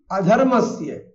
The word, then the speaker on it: अधर्मस्य: प्रायशः उत्तर भारतीय जो है अपने उच्चारण दोष के कारण से बीच में आने वाले ना और मा को लगभग आधा कर जाते हैं, इसलिए वो अभ्युत्थानम धर्मस्य ऐसा पढ़ जाते हैं।